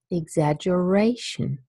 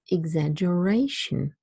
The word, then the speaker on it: exaggeration: bottom means secondary stress so it's exaggeration exaggeration so there is no stress on egg and there's a little